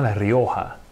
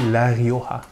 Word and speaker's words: Rioja: les rangs espagnols spécifiquement lario avec le gie mais qu'on prononce comme 1h lario à une région de